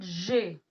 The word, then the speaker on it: j'ai: We'll pronounce it j'ai.